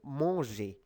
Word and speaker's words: manger: M-A-N, mon, mon. Really nasal sound here. Mon, mon, manger.